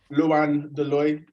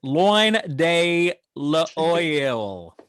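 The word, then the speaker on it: Loin de l'Oeil: Luan de Loy. So like LOINDEL''OEIL. Lots of vowels. Tricky if you speak London English like me. I mean, I'm American, man. Like, come on. Like, I pronounce everything wrong over here. Like, that's loin de l'oil. Yeah, nailed it.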